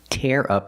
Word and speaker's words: tear: We use the air sound like hair and chair. Tear. Tear up the paper.